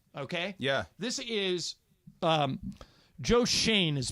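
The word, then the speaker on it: Joe Schoen: pulled the conversation okay yeah this is um Joe Shane is pronounced right yes okay Joe Shane right yeah C but um he's talking to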